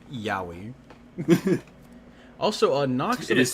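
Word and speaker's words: Yowie: out of the gutter it's not the Japanese yahi that is an unfortunate name for the Australian Bigfoot yoi also a nox it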